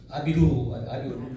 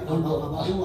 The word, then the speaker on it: 아비루: 아비루. 발음이 아비루야. 아바루 아니고.